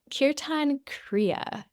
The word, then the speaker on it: Kirtan Kriya: Kirtan Kriya. Okay. And I'll spell it for you because I want people to